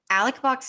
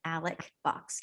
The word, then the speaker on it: Alex Box: It's spelled Alex Box. It's Alec Box. Anybody who pronounces it Alex is incorrect.